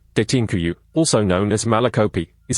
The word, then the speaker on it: Derinkuyu: Derinkuyu, Turkish pronunciation Derinkuyu, also known as Malakopea,